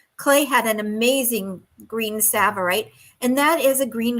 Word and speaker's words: Tsavorite: had an amazing green Tsavorite, and that is a green garnet. It's spelled with a T, which is so interesting. It starts with a T, but sounds like an S.